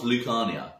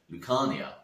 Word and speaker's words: Lucania: Lucania, and started to shorten it to just the first syllable, Luke, which sounded like luck, which then on the street evolved into Lucky.